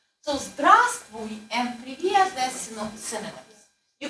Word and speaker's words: здравствуй: Okay, so the first V you do not pronounce. Okay? So Z, D, R, A, then you don't pronounce. Z, T, V, U. So здравствуй and привет, they're synonyms.